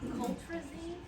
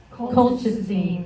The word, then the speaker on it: colchicine: Coltrazine? Colchicine. How do you spell it?